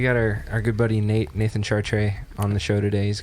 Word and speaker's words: Chartrey: And that's how you pronounce it, Chartrey.